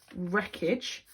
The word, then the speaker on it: wreckage: M the third one they cleared the wreckage from the tracks again we have a silent W before our R then we have four